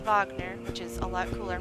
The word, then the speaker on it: Wagner: go back to Wagner and that's how I'm pronouncing it because that's how they pronounce it in the game Wagner not Wagner which is a lot